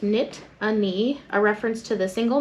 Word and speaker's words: Nittany: looms over State College the origin of the name Nittany is derived from the Native American words Loosely pronounced knit a knee a reference to the